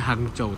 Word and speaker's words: Hangzhou: jam lagi menuju ke tulisannya itu Hangzou tapi kalau bacanya hangcou dies area mana enggak tahu ini.